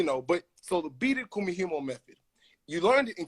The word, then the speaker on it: kumihimo: it's the experience now you learn the beaded kumihimo method is that how i say that right